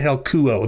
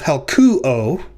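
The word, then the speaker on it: helkyō: You can see the accent on the second syllable of helkuo, and you can see the accent on the first syllable of helko.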